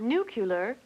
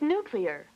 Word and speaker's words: nuclear: sounds don't transpose sounds not nuclear it's nuclear don't change sounds not